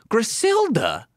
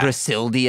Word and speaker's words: Griselda: Not Griseldia, as I used to call it. No, I know there's not a second I in there. Welcome to the podcast.